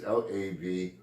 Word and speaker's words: Lavoisier: I've seen this name many times, I never could pronounce it. It's Lavoisier. He was French.